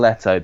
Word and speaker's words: Eto'o: Same with Samuel Eto'o because he rhymes with Jared Leto.